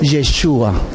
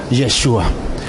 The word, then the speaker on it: Yeshua: El verdadero nombre es Yeshua. ¿Ok? Yeshua. Así que si queremos pronunciar bien el nombre del Hijo de Dios, sería en hebreo Yeshua.